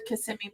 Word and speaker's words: Kissimmee: And people from out of town say Kissimmee. I've always said Kissimmee because I'm Spanish, and so I thought that's how it was pronounced. But I'm glad I know I was saying it right this whole time.